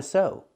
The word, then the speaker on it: sew: These two words have the same pronunciation. They're pronounced so. Use the long O sound like no and go. So and so. They're both pronounced exactly the same.